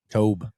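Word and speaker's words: Toub: I did see we signed Spags and Dave Tope. Dave Tobe. Good signage. Yep. Tobe, how you say it? Tobe.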